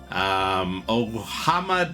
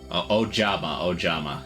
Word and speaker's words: Ojama: Ohama Delta Hurricane. Ojama. So, you know, I'm not pronouncing J's as H's.